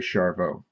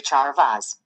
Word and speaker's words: Charvoz: The Z is silent, it's actually French. But Siri, well, you listen for yourself. Send a message to Charvoz. Okay, what do you want to say to Charvaz?